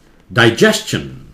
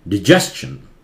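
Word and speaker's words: digestion: definitely silent है, सन, ये डाइजेस्टन, British English में, अमेरिकन इंग्लिश में डिजेस्टन, डाइजेस्टन अमेरिकन भी बोलते हैं, डाइजेस्टन या डिजेस्टन दोनों बोलते हैं, ये अधिकतर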